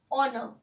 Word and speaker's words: honor: Though it start with H, but here H is silent. Here also H is silent. Here also H is silent. And we are pronouncing, when we are pronouncing it, we are having a vowel sound.